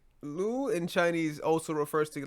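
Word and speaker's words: 六: See, the thing about the number 6, which is pronounced as Lu, this is the number 6 has the meaning of good luck, right?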